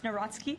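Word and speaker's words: Nawrocki: He met with Carol Naraki, if I'm pronouncing that correctly. Yes, Naratski.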